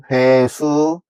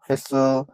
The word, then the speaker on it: 횟수: 화면에 보시다시피 제가 먼저 써 놨는데이 여섯 개의 단어를 먼저 한자 보는 그대로 읽으면 뭐가 되냐면 얘는 차관이 되고 그다음에 고간 그다음에 퇴간 수자 회수 세방이라고 읽을 수가 있습니다. 근데이 여섯 개의 단어들은 어 한자의 사이오시프트 그래서 착간, 곡간, 색간, 숫자, 횟수, 새빵이라고 읽으셔야지 표준화가 되는 것입니다.